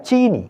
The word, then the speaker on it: சீனி: ஜீனி அல்ல, சீனி. நமக்கு சாய் இருக்கிறதே, பின்ன ஏன் அந்த ஜீயை போய் பிடிக்க வேண்டும்? டீயில் சீனி அதிகம். வட்டார மொழி என்று சில வாதிட்டாலும் அது தேவையில்லாத ஒரு எழுத்து. சீனி என்று சொன்னால் போதும்.